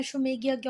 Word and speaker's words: अश्वमेध: Celebrate करने के लिए अश्वमेधा यज्ञ, जैसे आप चाहते हो वैसे पढ़ दिया है ना। कुछ बच्चे ऐसे कमेंट करते हैं, मैडम मैडम आपका प्रोनाउंसिएशन गलत है, पर वो है अश्वमेध यज्ञ।